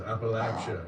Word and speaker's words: Appalachia: Jim Crow and Post Civil War South and Appalachia. Even just to know how to pronounce it properly, Appalachia, you know, I learned so much working on it and it's been a real joy.